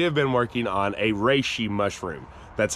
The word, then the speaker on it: reishi: For the last few months, we have been working on a reishi mushroom. That's how you pronounce it.